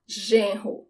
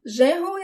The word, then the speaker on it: genro: Son-in-law, genro. Genro. Genro is an interesting word. The G-E sounds like J. Genro. And this R is the sound of the age in English. Ho. Genro.